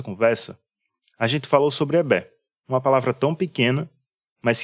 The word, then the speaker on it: Egbé: Que escrita Egbé, mas que a gente pronuncia no iorubá Ebé.